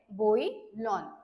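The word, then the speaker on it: bouillon: spelling आहे याची आणि त्याला त्याला प्रोनान्स कस केल जाते बोईलन ओके नेक्स्ट वर्ड आहे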